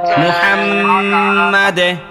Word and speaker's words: মুহাম্মাদ: আল্লাহুম্মা সাল্লি আলা মুহাম্মাদ।